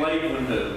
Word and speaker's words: Leeuwenhoek: The first guy was named Anton van Leeuwenhoek.